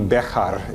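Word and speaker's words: Bexar: or outside San Antonio bear County is our County bekata it would be the proper pronunciation in Spanish but we tend to slide over that you can see here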